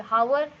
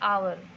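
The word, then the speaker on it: hour: ठीक है जैसे आर यावर यहां पर इसकी स्पेलिंग है एच ओ यू आर तो यह क्या होना चाहिए हावर लेकिन इसका करेक्ट प्रनंसीएशन आफ वर नहीं है इसका करेक्ट प्रनंसीएशन है आर्य फिर आवर ठीक है तो यहां पर ऐड का साउंड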